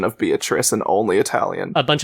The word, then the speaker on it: Beatrice: fact that it said Beato Riche this whole time, it's literally an Italian pronunciation of that name. Like that is like a very specifically Italian language pronunciation of Beatrice, and only Italian.